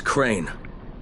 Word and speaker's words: Crane: no my name is crane crane crane rhymes with train and brain and sane and gray and rain and plain and the other kind of plane and and can I